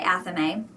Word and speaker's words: athame: So, a lot of what I read was about how Amemes or Aamese, but however you pronounce it, it doesn't rhyme with flame or A-frame. I say Ame.